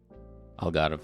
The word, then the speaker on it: Algarve: Algarve? Algarve, yeah.